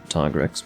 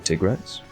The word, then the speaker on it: Tigrex: done a single black tiger x but you know i need to get in the habit of saying tigrex i say tigrex because